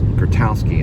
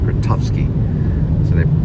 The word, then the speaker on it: Grotowski: game although I think they they say his name is grotowski and she'd call him gratowsky pronounced a little bit different but towsky gutowsky regardless